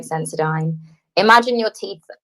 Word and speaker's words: Sensodyne: Senodome? Is that how you pronounce it? Senodome? However, do you know what I mean by that? Sensodyne.